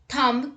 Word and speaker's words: thumb: b rule number one b is not pronounced after m at the end of a word let's look at the examples dumb limb crumb comb bomb thumb climb tom now let's